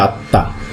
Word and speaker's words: আত্মা: আত্মা, তয় ম আছে কিন্তু উচ্চারণ করছি আত্মা, এই ইত্যাদি।